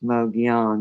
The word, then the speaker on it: Mogollon: But thank you so much, Mogion Monster. Hey, I finally pronounced that right.